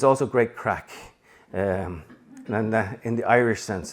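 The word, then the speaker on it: craic: But the other thing about it is it's also great crack, and in the Irish sense of things.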